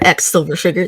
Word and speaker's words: X Silver Sugar: I am Silver Sugar, aka, and you can find me most places on the internet as Silver Sugar or X Silver Sugar. The X is silent.